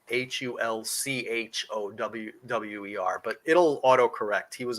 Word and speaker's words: Hulkower: It's spelled wrong in the document. It's spelled Hulkower, but I think it's actually Hulchower.